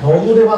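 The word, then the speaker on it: 陳者: ノブレバ、これですね、ノブレバと読むんだそうですね。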